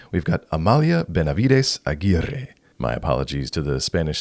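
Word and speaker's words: Amalia Benavides Aguirre: good that I had to look up a pronunciation guide to say it correctly we've got Amalia Benavides aier my apologies to the Spanish speaking Community but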